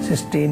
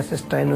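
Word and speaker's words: cystine: वो भी बनते हैं, सिस्टीन या सिस्टाइन, उसको जो भी आप प्रोनाउंस करेंगे।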